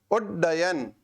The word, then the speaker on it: उड्डयन: उड्डयन, उच्चारण पर जाना, उड्डयन। मैंने प्रथम ड पर एकदम लघु रूप में इसका उच्चारण किया, अर्थात वो स्वर रहित था।